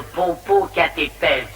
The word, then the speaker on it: Popocatépetl: C'était le Popocatépetl. Ça s'écrit comme ça se prononce.